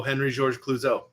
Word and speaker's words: Henri-Georges Clouzot: Your boy here, I will let you, that's right, pronounce his name. Go ahead. Oh, Henri-Georges Clouzot.